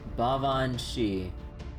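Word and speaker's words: Baobhan Sith: Apparently it's pronounced like Bavan Shi. Oh right, oh right. I remember if you guys told me or read this up before, the Sith part doesn't read like actually Sith, right?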